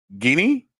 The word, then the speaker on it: Guinea: the tropical rainforest of why I keep messing up this word it's guinea Yes, sir.